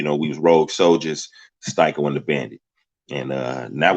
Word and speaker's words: Styco: So I changed it to Styco, put the little line over the I, or, as you see in the parentheses there, STY space KO, Styco.